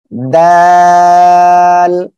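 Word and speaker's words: د: দাল। সবাই আমার সাথে সাথে পড়বেন, দাল। সবাই বলেন, দেখেন এ অক্ষরে তিন আলিফ টেনে পড়তে হবে, জিব্বার আগা সামনের উপরে দুই দাঁতের গোড়ার সঙ্গে লাগিয়ে উচ্চারণ হবে, দাল। সবাই একসাথে বলেন, দাল।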